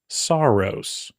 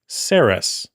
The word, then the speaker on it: Saros: I used to think this next game was called Saros, but apparently it's called Saras.